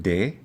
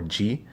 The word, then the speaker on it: de: a form of the preposition de often often pronounced d or g and then the person